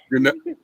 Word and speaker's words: Janely: Janelle. Like Janelle with an extra E sound at the end.